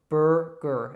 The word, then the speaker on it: burger: And really, that's kind of like a new vowel also when you combine the U and the R. So it's burger. And it's the same actually in both syllables, burger.